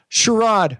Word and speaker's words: Sharad: It's Sharad.